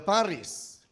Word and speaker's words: Paris: yang ingin pergi ke Paris dan dia mendapati sesuatu yang dia sebut sebagai the Paris effect orang Paris orang sana tidak baca Paris bacanya cuma pari ya the pari effect katanya